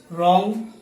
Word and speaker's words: wrong: will and well but in this list letter w is absolutely silent wrong wrists wreck wrath right